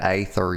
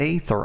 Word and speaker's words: Aether: I always pronounce that aether, y'all. Like it has a fucking A on it. You're never going to get me to call that ether.